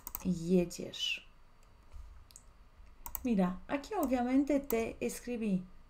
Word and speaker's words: jedziesz: empezando a aprender idioma polaco, vamos a hacer pronunciación paso a paso. Jadę. Jedziesz. Repite conmigo, siempre está bueno, ¿no es cierto?, pronunciar la pronunciación. Jadę, jedziesz.